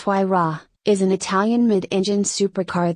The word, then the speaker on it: Huayra: The Pagani Huayra, pronounced Huayra, is an Italian mid-engine